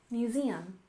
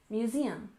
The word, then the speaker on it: museum: first off we have museum with stress on the second syllable museum museum and of course this